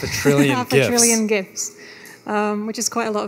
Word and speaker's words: GIF: lot of gifts so I guess that settles the age-old question of gif or Jif so it is official it is gift we call it gif the guy who invented the gift Steve while height he called it jiff maybe we can reach